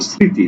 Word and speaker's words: স্মৃতি: রেখে যাও সেটা হলো স্মৃতি স্মৃতিটা রেখে যাও বুঝছো তো আমাদের এই যে ম ফলা এই ম ফলা উচ্চারণ তো হয়ই না শুধু সে তার একটা স্মৃতি রেখে যায় কি রাখে স্মৃতি কারণ